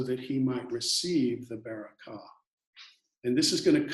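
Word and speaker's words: בְּרָכָה: pronounced be and the word for blessing is pronounced to Baraka so uh Jacob is pretending to be the beora so that he might receive the Baraka and this is going to come back later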